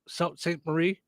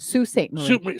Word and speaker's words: Sault Ste. Marie: Susan says Clyde's Drive-In in St. Marie. What is it? Sault Ste. Marie.